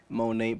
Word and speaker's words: Monat: Monate, by the way, is spelled MONAT. I thought that was a French thing, but it stands for modern nature. So it's English. So Monate, if you go to